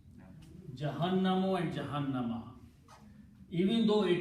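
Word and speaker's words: جهنم: Jahannama actually is a Hebrew word. Gahannama. They call Gahannam. Okay. In Arabic, it is pronounced as Jahannam.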